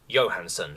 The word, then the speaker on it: Johansen: just remembered was albert johansen pronounced johansson for some [ __